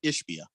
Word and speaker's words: Ishbia: Is it Ishbia or Ishbia? Ishbia.